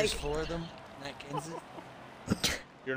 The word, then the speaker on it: Kenseth: Just four of them, Matt Kenseth.